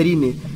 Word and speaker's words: Rinne: a pronúncia correta é Rine.